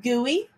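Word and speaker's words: guli: few times and then we have gui this is pronounced gui and then it goes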